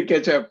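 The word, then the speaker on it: K8up: kubernetes what is that how you pronounce it ketchup kate's up cat's up okay very good oh yeah they did say catch up in their index page oh they do yes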